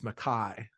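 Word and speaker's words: Mackay: over again and uh Emily Mackey or McKay how do you pronounce that one I asked her before I interviewed her the other week it's Makai Makai all right well she's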